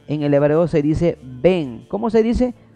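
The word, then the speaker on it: בן: Hijo en el hebreo se dice Ben. ¿Cómo se dice? Ben.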